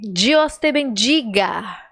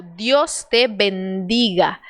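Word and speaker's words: Dios te bendiga: amém eu disse mas essa pronúncia não tá muito legal não porque por causa do que eu acabei de te explicar sobre a letra d e dei para o brasileiro se transforma em dia por isso que ele disse que a palavra tá certa é Deus em espanhol bendiga também tá certa a palavra só que a pronúncia virou ele deveria ter pronunciado Deus te bendiga de Oster bendiga Então agora você sabe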